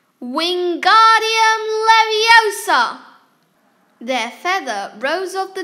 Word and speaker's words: Wingardium Leviosa: the next table wasn't having much more luck wingardium leviosa waving his long arms like a windmill you're saying it wrong harry heard hermione snap it's wingardium leviosa make the gut nice and long you do